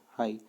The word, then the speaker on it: Haigh: तो यहाँ पे रैंकाइन, सेंट वेनेंट, ठीक है, और आपका तीसरा ट्रेश का, हाई, हाई का स्पेलिंग इस तरीके से लिखा होगा HAIGH, हाई, ठीक है।